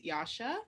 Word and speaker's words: Yasha: everyone my name is yasha i know it's about but rhymes with sasha i use she her